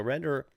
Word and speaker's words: Render: So Render sounds like surrender.